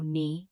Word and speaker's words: knee: Know, knee, knife, night, not, knock. You never pronounce the K. Just say now, knee, neef.